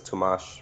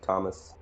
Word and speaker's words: Tomash: Yeah, the one that I got down is Tomash because I always used to say like Thomas. Oh, is That's that's the correct pronunciation? Yeah, it has like the sh sound at the end.